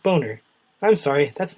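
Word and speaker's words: Boehner: the House John B name is actually pronounced boner I'm sorry that's not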